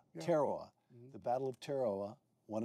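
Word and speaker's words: Tarawa: In November of 1943, the battle of Terawa. Did I pronounce that correctly? Terowa. Teroa.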